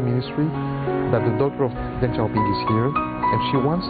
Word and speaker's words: Deng Xiaoping: How do you pronounce in Chinese Deng Yes, Xiaoping? Deng Xiaoping.